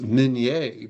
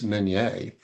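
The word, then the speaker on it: Minié: And um I managed to dig up these three mini balls or I'm told now it's pronounced minet balls because these uh projectiles were named after an inventor from France named Met.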